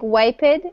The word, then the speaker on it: wiped: wiped there you go so it looks like wiped but in English we pronounce say wiped with a t sound at the end WIP there you go